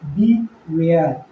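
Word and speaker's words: beware: नहीं, तो हो गया बी वेयर, बी वेयर। तो बी ई से बी और WARE से वेयर, तो बी वेयर।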